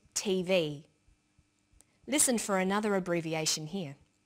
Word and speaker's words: TV: with a readon memory notice that each letter in the abbrevi ation is pronounced separately but the last letter is pronounced more strongly because it carries the primary stress so we say USA ASAP ABC and TV listen for another abbreviation